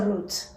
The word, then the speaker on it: route: So say the difference, because we say it's a root. This route thing is an American thing, and I just don't know when to use it.